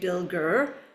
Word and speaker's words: Bilger: So even though, when I introduce myself, I'll say Bilger is how you pronounce my last name.